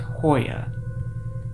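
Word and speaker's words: Hoia: Okay, so it's pronounced Hoya.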